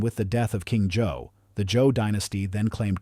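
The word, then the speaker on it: Zhou: He remained resolutely unpersuaded until a significant rival emerged in the person of Jifa of Joe, pronounced Joe.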